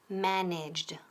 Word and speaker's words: managed: En este caso, la terminación es de, como de fuerte. Managed, ¿ok?